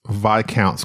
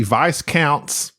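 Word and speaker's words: viscounts: can Jerry please pronounce VI counts correctly what did I say it's VI count per you say Vice counts Vis counts Vis counts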